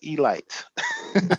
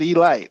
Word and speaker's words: Elite: the Baltimore Elite Giants spelled Elite but it's pronounced Elite that's important don't be a rookie pronounce it Elite okay okay uh so um what's notable about